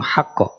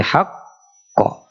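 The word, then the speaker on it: الحق: tulisannyahumi ketika berhenti bilhaqq jadi tidak langsung haqq tapi haqqo ya silakan abiahab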